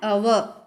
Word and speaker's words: hour: For example, an ant, an enemy, an ice cream, an orange, an umbrella, an hour. So here, notice the word hour is H is silent here.